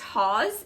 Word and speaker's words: Hawes: from lawrence and catherine i think it's pronounced haws it's h-a-w-e-s i believe is what it's called or how you pronounce that last name this is um i